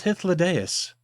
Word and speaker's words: Hythlodaeus: Who the hell was Hythlodaeus? And yes, I pronounced it correctly because I am a mythology nerd and I hung out with writing majors in college.